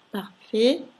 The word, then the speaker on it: parfait: Parfait, ahi si pronuncia E, T finale muta.